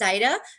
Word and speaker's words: Zaida: I just wanted to make a little, that happens a lot with her, but that is the way she pronounces her name is Zaida.